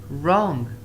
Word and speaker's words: wrong: W. If it is used before R, then W is silent. It means that if there was an R after W, then W is silent. Work, we don't have any R after W. The next one, right. We've got an R after W, so W is silent. Right. Wrong, wrong. Waste, waste.